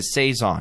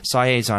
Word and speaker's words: saison: was a science ceson it's a saison not cyazan i've been saying it wrong and i'll admit that